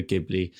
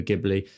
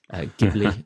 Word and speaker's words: Ghibli: gibli style um the amount of people that also say it wrong is horrific gii or GI or something like that like they really no